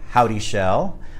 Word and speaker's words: Houdyschell: and I am here with my guest John howdy shel I had to ask him this morning I didn't want to pronounce it wrong CEO of trend aviation and